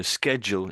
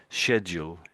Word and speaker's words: schedule: So schedule is American, schedule is British.